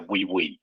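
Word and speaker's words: Wiwynn: Sorry, the Asia spelling and the pronunciation are not really matching together, but it's a we win. The company pronounced we win together.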